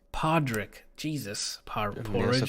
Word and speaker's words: Podrick: Yeah, maybe Porridge. How do you pronounce his name? Podrick.